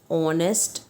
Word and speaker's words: honest: Now when we say honest man we have to look for the adjective, right? और honest के अंदर पहला sound क्या आता है, ओ का आता है, क्योंकि एच तो साइलेंट है, तो हम यहाँ पर लिखेंगे एन।